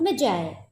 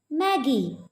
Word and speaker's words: Magi: Children, remember that this word Magi will be pronounced as Magi. Magi. Because it is a biblical word, so it will be pronounced as Magi. It will be wrong if you pronounce this word as Maggie.